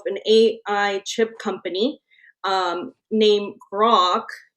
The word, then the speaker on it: Groq: Jonathan Ross, the founder of and CEO of an AI chip company named Grok. Is that how you pronounce it? GROQ? Yeah, it is, but it's spelled different, obviously, than the Yeah, GROK.